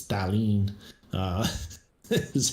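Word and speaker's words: Thallanne: if you put her into google translate it's thalene uh this is how it actually pronounces it oh really um yeah darlene was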